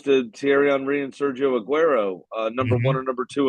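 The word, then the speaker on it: Agüero: to say his name you need to say it the right way Aguero one of the greatest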